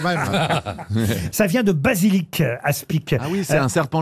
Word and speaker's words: aspic: ASP ah oui alors on ne prononce pas le C qui est à la fin un aspi ou ASP si vous prononcez le C bonne réponse de Franck